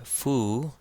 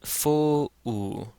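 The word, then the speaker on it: ⲫⲟⲟⲩ: So this does not say fu, it says fo-u, fo-u. So we have the fe and that first short O in one syllable, fo, and then the short O followed by the epsilon to make that U sound. So this is fo-u.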